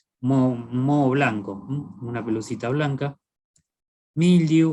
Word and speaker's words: mildew: Mildew, o mildew que se pronuncia, o bremia también, es